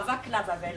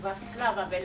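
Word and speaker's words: Václav Havel: velours avec vasl Avel on dit pas vacla Avel hein c'est un S c'est vasl Avel le C se prononce s en dans ces pays-là et voilà et j'ai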